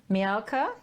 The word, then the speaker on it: Milka: So joining me today in the studio is now, see, I wrote down my cheat pronunciation. Milka?